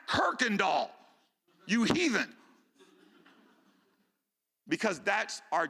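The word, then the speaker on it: Kuykendahl: THERE'S NO R IN THE NAME KIRKANDALL. THERE'S A U AND A Y IN THE NAME AND IT'S PRONOUNCED KIRKAND DOLL.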